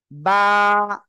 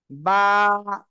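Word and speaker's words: ب: আলিফ এক আলিফ টান দুই ঠোঁটের ভিজা অংশ থেকে বা উচ্চারিত হবে বা বা সবাই জোরে বলেন বা ওকে এবার আমরা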